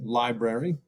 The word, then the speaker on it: library: Lib. That should be a short I, right, with phonics. Library, but we pronounce it library.